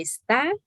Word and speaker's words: está: Y es que está, acento en la A. Cuando es verbo, está, es acento en la A.